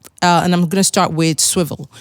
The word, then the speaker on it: Swvl: i'm gonna start with swivel so swivel is spelled uh swvl and swivel is a